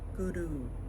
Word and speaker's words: Guru: Guru is pronounced bringing that R rolling sound to the roof of your mouth. It's like a rolling R. Sounds like a D. Guru.